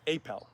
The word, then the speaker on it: Apel: Uh, so you go you go as Peter Appel like there's is that how people find you? Yeah, Apel. So pronunciation.